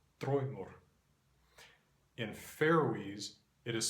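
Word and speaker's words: draumur: In Icelandic, the word is spelled the same way, except with a U between the M and the R, and this is pronounced Troimur, Troimur.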